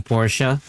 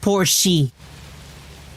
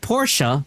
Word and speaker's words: Porsche: It's not poor she. Okay?